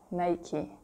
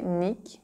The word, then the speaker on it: Nike: do then you have the brand name Nike Nike in French we say night night you see again that